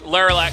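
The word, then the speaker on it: Lerilak: How do you say it? It's Laralac Crest.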